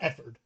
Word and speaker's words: Efford: ever is uh Tyler efford first off his name sounds like the word f word love that and he's